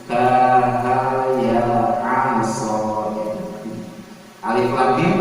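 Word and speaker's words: الم: Alif lam mim bacanya alama gitu kan.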